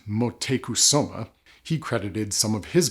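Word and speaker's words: Motecuhzoma: supposed aphrodisiac effects and even the aztec emperor montezuma or if my research is correct apparently it's more properly pronounced motekusoma he credited some of his virility to vanilla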